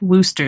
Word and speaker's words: Worcester: that it's pronounced just Worcester sauce, which sounds Worcester.